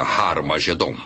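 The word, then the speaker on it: Harmagedon: testamento escritas em grego Armageddon tem noção aspirado no início O que significa que era pronunciada com H Originalmente era raromagedon e é muito fácil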